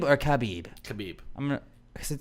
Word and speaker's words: Khabib: And there's a K in the front, so it's Khabib.